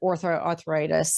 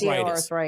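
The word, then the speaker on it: osteoarthritis: You have arthritis that ortho arthritis. So that means you have arthritis. osteo arthritis. That's how you say it.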